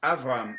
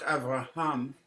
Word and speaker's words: Avram: One of the things that readers are to be careful with, the word is Avram, not Avraham, but it's Avram. So you don't pronounce and the other one is Va'avarcheka Ar'eka.